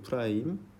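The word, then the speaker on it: f′: f 요거를 프라임이라고 읽어요. 프라임 점 f 프라임 x 이렇게 쓰면 f x의 f 프라임 a 미안해요.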